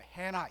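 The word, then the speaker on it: Hannah: 히브리어로 한 나라란 말, 여러분 영어로 해나 이렇게 발음합니다만, 한나는 히브리어로 favored, 하나님께 은총받은 사람이라는 뜻입니다.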